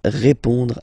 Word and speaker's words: répond: So, final D is not pronounced. You only have this on nasal sound at the end.